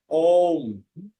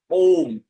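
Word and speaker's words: ওঁ: এর সঠিক উচ্চারণ হবে অ রস্যু প্লাস হচ্ছে ম। তাহলে তিনটে মিলে কেমন উচ্চারণ হবে? এর উচ্চারণ হবে ওম। ও, তার মানে এটাকে গুরু করে উচ্চারণ করতে হবে।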